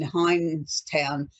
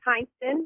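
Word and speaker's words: Hineston: with Beth now in hin toown Louisiana are you there Beth and I've probably pronounced where you live in the wrong way it's okay it's hinston Louisiana and I'm great how about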